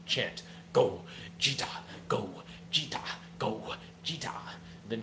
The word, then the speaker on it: Gogeta: Then Matt said, Jet, you said it wrong. How do you feel like I should have said it? And then Matt said, the Broly movie chant. The Broly movie chant does the go, Jita, go, Jita.